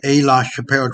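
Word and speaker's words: Aix-la-Chapelle: I talk about the A. La Chapelle Treaty. Now, you can look it up. A is spelled AIX, La, L-A, and Chappelle, just like Dave Chappelle.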